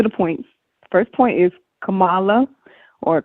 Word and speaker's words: Kamala: First point is Kamala, or Kamala, I think that's how they say her name.